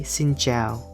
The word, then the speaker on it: xin chào: hello right in vietnamese we say xin zhao so sin sounds like sin in english and jail sounds like ciao ciao in italian xin zhao we can also say